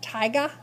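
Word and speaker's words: Taiga: the Tundra the Tiga it's pronounced Tiga like that tiga's gonna get you um tiger okay I have a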